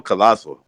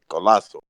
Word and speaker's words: Collazo: Why don't you just call him Colasso? Why No, you I call him prefer Collazo? Collazo. I'm gonna go with Collazo.